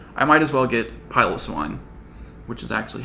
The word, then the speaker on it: Piloswine: And since I'm adding a bunch of new Pokemon to my Pokedex, I might as well get Piloswine, which is actually how it's pronounced. I watched the anime. Piloswine, go!